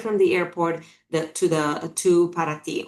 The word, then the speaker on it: Paraty: Our driver will take you right from the airport to Paraty, or Paraty is how they pronounce it in Brazil.